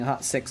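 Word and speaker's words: Hot6: I'm not saying hot chicks, I'm saying hot 6, by the way. That's how they say it.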